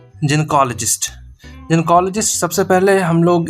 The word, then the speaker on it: gynecologist: ये है आपका जिसको कि नॉर्मली हम लोग नॉर्मली स्पीकिंग प्रोनाउंसिएशन में हम लोग बोलते हैं गनेकोलॉजिस्ट। बट इसका जो प्रोनाउंसिएशन है वो जेनकोलॉजिस्ट। जेकोलॉजिस्ट। ठीक है? ये प्रोनाउंसिएशन ये प्रोनाउंसिएशन है इसका।